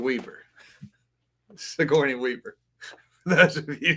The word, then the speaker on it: Sigourney: Um who is Sagenoi Weaver. Sigourney Weaver.